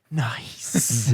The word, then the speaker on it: NICE: No, the H is silent for some reason. It should be nice.